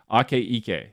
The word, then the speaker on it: Akaike: the aka information criteria ake ike that's how you say it and we'll talk